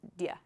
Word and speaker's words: do you: So just write do you, but when you pronounce it, say dia.